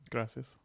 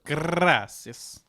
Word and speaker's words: gracias: Gracias. That's actually good. You kind of roll your R a little bit. Gracias.